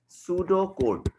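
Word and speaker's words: pseudocode: इसकी प्रोनाउंसिएशन होती है बेटा सूडो कोड.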